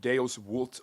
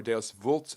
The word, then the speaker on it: Deus vult: The Pope, calling a council of church leaders and political leaders, declared Deus vult, or Deus vult, which means God wills it. V in Latin is actually pronounced as a W, kind of the opposite